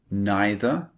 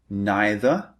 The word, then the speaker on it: neither: You can say neither or neither. These are the 2 alternatives. And you can say either or either. Slightly different. These are the alternative pronunciations, just to let you know.